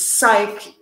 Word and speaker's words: psych: Another one is psych when, I'm not sure in the UK if you do this, but if I joking psych. With you, psych. Psych? That the, definitely rhymes with bike.